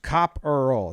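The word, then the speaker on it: Kopperl: on the wikipedia for cop roll pronounced cop earl it says there right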